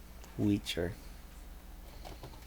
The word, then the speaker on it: Weecher: Weecher. Like creature, but spelled with a W.